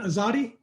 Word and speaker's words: Azadi: got in the air is that the correct pronunciation azadi you said it right good job right on